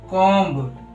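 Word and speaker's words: comb: था टी से पहले बी साइलेंट होता है मतलब एम के बाद तथा टी से पहले भी जो होता है व साइलेंट होता है हमने कुछ एग्जांपल लिए हैं वो देखते हैं जैसे कोम बम थम डम बहुत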